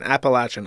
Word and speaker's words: Appalachian: me a curse also Appalachian should pronounce with a latch and not a le as someone from there okay fine appalachin I will adjust my